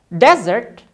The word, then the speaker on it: desert: Contoh yang kedua di sini ada desert. Desert yang artinya gurun. Ya. Dan yang kedua, penulisannya sama, tapi pengucapan dan penekanannya berbeda loh. Yang ini dibaca dessert. Dessert. Ya, memang kedengarannya sama seperti makanan penutup ya. Hanya saja berbeda di penulisannya. Yang ini S-nya 1, ini S-nya 2.